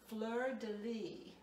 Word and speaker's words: fleur-de-lis: how it's pronounced so the s is silence sounds well i didn't hear that did you fleur-de-lis okay all right florida